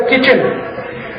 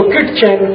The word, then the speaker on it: kitchen: अंग्रेजी का एक शब्द है किचन, स्पेलिंग क्या है? KITCHEN। तो किटचेन, किटचेन, किटचेन होना चाहिए। वो कहते नहीं नहीं टी साइलेंट है तो क्यों घुसाया, हटा दो उसको बाहर।